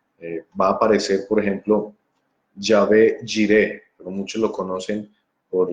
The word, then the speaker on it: Yahvé: Entonces va a aparecer, por ejemplo, Jehová, que ya he dicho que es una mala transliteración, una mala pronunciación del nombre. Va a aparecer, por ejemplo, Yahvé Jireh, pero muchos lo conocen